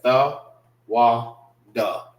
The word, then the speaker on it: thawada: Da is connected together because they have to depend on each other. And the and wa is pronounced individual. All right. It's pronounced by itself. So how you say it, the same way that I have it, marked up here.